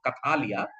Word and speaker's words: Kathalia: Kathalia is basically you have to sound little bit of Bengali pronunciation is going to come. Kathalia was returning home with his family by boat.